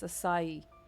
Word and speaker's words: acai: Guys, is it a how do you guys how do you pronounce acai?